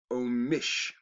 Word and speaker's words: Amish: Also spelled omish, as in the word omission, right? Which reflects the pronunciation in Pennsylvania German dialect.